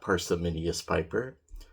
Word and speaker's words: Parsimonious Piper: It's Parsimonious Piper, not Parsimonious Piper. I don't know why I've been saying that wrong for years.